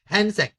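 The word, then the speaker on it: Hsuan Tsang: अब हैंसेंग, T silent है, हैंसेंग।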